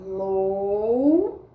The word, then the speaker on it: lousa: pronunciar a palavra lousa novamente o s com som de z e sim eu tirar